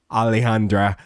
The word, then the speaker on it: Alejandra: at the very least can correctly pronounce Alejandra. I'm not going to try to pronounce that J as a J or anything like that.